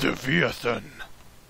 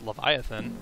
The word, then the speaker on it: Leviathan: Come On LAN wins lethan pretty sure it's pronounced Leviathan that's how I've pronouncing it my entire life round to fight damn